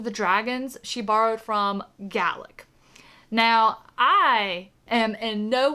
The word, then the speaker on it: Gaelic: I didn't even know until I saw Willow's video that Gaelic and Gaelic both exist and they're 2 different languages.